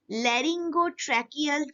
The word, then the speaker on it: laryngotracheal: A pair of lungs, pair of branches, laryngotracheal chamber. Please pronounce it properly.